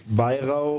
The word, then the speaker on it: Weir: pronouncing your last name it's vir it's German it's the V that did not look